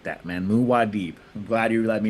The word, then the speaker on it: Muad'Dib: Muad'Dib. I'm glad you let me know. That's how you pronounce it.